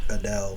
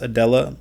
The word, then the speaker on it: Adele: Um, Adele from England. Her name's Adella, though. Like, she is pronounced Adella, but Okay.